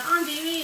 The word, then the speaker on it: andouille: And the andouille is just a different kind of sausage. That's all. Okay, so andouille is tricky, and I might not even spell it right, but it's Andouille.